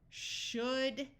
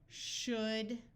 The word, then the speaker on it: should: these words are could should and would notice that in all three words the L's are silent could should and would let's practice